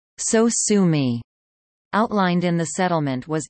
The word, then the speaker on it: sosumi: The sound was later renamed to Sosumi, to be read phonetically as Sosumi.